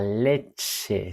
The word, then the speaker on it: leche: La leche. Sí, leche. La ch. Eh, acordaros del vídeo del alfabeto. La ch suena como una X. Leche.